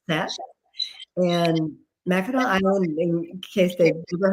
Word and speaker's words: Mackinac: So sounds like this book is a perfect opportunity for you guys to go to Mackinac Island. I didn't say it right. Mackinac Island for the holidays.